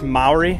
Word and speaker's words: Māori: It's like pronounced Maori.